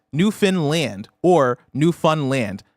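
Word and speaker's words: Newfoundland: um in other words speed up the middle but pronounce land um like you'd pronounce it on its own so land new Fun Land New Finland yep New Finland either Land There we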